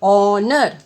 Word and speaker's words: honor: An honor, again H is silent. I repeat again, honor.